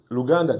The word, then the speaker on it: Luganda: And in Lugana, it's Luganda.